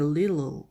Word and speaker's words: little: 그 다음 영국식 발음은 little 알파벳을 그대로 소리를 내지만 미국식 발음은 t를 가능한 t 소리를 내지 않습니다. 그래서 t가 많을 경우는 이렇게 little 거의 우리 한글에 리을 발음을 합니다.